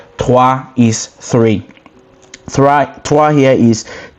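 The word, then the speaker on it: trois: TWA here is T R O I S.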